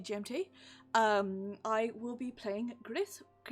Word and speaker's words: Gris: I will be playing Gris. I keep wanting to call it Gris, which is the French way you pronounce it, but it's a Spanish game, and I don't know how to pronounce Gris in Spanish, which I'll have to learn.